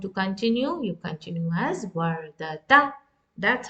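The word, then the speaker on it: وردة: When you continue with the dhamma, you pronounce as wardatu. And now if it is with kasra, in pausal form, you will pronounce as ah, warda. And when you pronounce as wardati.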